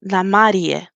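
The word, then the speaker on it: Namárië: If it is a longer word, for example, Namarie, and the vowel of the second to last syllable is long, it is also stressed. So we say Namarie.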